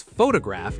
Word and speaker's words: photograph: to bring up because photograph is one of the most famous stress-shifting words in English. Oh, tell me more. Okay, so watch this. Photograph, the noun, stress on the first syllable, then photography, the art